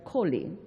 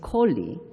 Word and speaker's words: Coley: University, particularly Professor Royal Coley. We used to call him Professor Royal Cole. This morning I learned the right pronunciation of his last name is Coley.